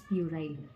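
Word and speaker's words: puerile: टुडेेस word of द डे इज प्यूराइल। प्यूराइल part of speech में adjective होता है। उसकी स्पेलिंग होती है पी यू ई आर आई एल ई प्यूराइल।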